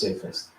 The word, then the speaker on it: safest: traveling all right so let's find the syllables what's the safest safe safest here here the vowel change safe e so that means it's a new vowel sound say one vowel sound per syllable say Fest safest way to carry well it could be sa fist yeah it is sa fist sorry sa fist that's better safest what's the safest